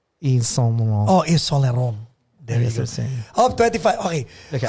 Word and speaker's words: Yves Saint Laurent: How can you pronounce YSL correctly? Yves Saint Laurent. Yves Saint Laurent. Oh, Yves Saint Laurent.